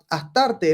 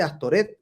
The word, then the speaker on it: Astarte: En la Biblia recibe el nombre de Astoret o Astarot, pronunciación desfigurada de la original Astart, mediante la inclusión de las vocales de la palabra hebrea boset, vergüenza, según uso piadoso de los rabinos para desprestigiar a las divinidades paganas.